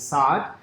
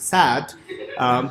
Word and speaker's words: Saad: The way you pronounce that is Saad. Ironically, some people pronounce it sad, but the sad irony is that it actually means happiness in Arabic.